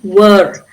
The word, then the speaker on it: were: Can you see the R at the end when I'm when because the next word is a vowel. So I'm saying were the R is pronounced were a child.